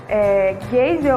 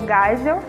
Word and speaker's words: Geisel: E neles temos o Castelo Branco, Costa e Silva, Médici, Geisel ou Geisel, dependendo da pronúncia, e Figueiredo.